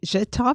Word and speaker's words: Zhitov: We've been talking to Zhitov.